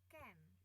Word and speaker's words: can: Can bacanya A jadi E kemarin ya.